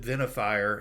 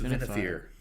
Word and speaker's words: Venifere: And or I have like my the mountain where my gods live is called Mount Venifere, but it's spelled like Venifire. And so it'll pronounce it Venifire, and it's Venifere.